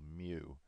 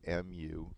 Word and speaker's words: mu: about this symbol here this symbol is a greek letter called mu spelled m u pronounced mu and it stands for